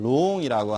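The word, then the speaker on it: 龍: 뜻은 용, 음은 룡, 그리고 발음은 중국어 발음은 롱이라고 합니다.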